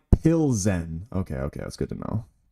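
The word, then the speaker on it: Plzeň: Keen says it's pronounced Plzen.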